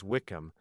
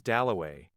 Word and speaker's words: Dalloway: Somebody had brought him over, and Clarissa got his name wrong. She introduced him to everybody as Wickcham. At last he said, "My name is Doway."